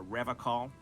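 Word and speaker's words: Revachol: to stay strong for rev call R call not reaw he pronounces revon with a hard K unlike other people is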